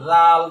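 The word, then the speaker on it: ذال: নক্তা আছে এই অক্ষরটার নাম হল জাল নরম করে বলতে হবে জাল লাল নরম এরপরের অক্ষরটা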